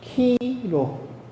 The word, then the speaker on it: 키로: 근데 거기 그리스 알파벳에서 이 X자로 생긴 것을 그냥 키라고 읽었어요. 이렇게 갈고리로 쓰는데 이걸 로. 그래서 키로. 영어 A, B, C 읽듯이 우리가 X, P 읽듯이 그리스로 읽으면 키로라고 읽으시면 되고 뜻은 그리스도라고 알고 계시면 되겠습니다.